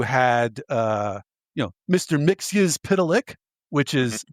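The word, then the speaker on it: Mxyzptlk: Mixius Pitilik, which is how that's pronounced.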